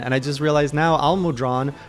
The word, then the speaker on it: Almudron: i just realized now al-mudran rhymes with long he's i have a